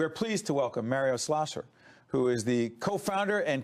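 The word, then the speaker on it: Schlosser: We are pleased to welcome Mario Slasser who is the co-founder and co-CEO of Oscar Insurance Company. Mario, I want to make sure I got your last name right. How do you say it? Mario Schlloer.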